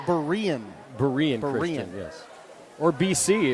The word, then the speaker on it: Berean: tonight it's yeah okay I've been told it's Berean Berean Christian yes or